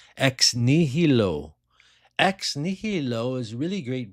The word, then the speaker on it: Ex Nihilo: It's pronounced ex nihilo.